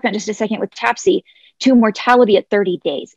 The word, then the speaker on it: TAPSE: annular pulmonic systolic exertion or tapsy as it is more commonly and much more easily to pronounce called and what tapsc does